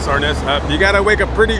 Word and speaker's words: Arness: Anyways, I know some of you guys thought that I was mispronouncing James' name in the beginning of the video, right? Arness.